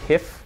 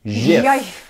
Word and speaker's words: GIF: There's the uncommonly used G sound of zh, so it would be jif.